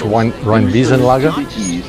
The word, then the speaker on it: Rheinwiesenlager: I've got the pronunciation right now, folks. Rheinwiesenlager, which is the Rhine Meadow death camps, the